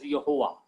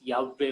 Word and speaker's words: Yahweh: letters they combine, and they have given the new pronunciation as Yehovah. That is very wrong pronunciation. You can search anywhere. You can go to Israel and you can ask any Kabbalist. They will give you the proper name as Yahweh only, not Yehovah.